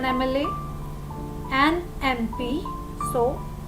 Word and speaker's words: MLA: Some words that begin with M is pronounced with a vowel sound at the beginning, like M. So the sound is of E vowel over here. So we say an MLA because the sound is starting with M, E sound. An MLA, an MP.